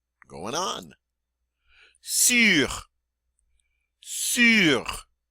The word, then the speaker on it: sur: Sur. Sur. Again, it's that U sound.